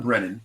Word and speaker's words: Brennan: him to put Johnny Brennerman on the phone, do Do the Frank Rizzo voice. So it's John Brennan. You seem to be adding a few extra syllables.